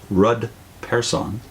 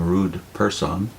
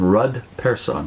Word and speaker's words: Rud Persson: Witness whose name is Ruud person Vivian warned me not to pronounce his name rude person yeah she has Swedish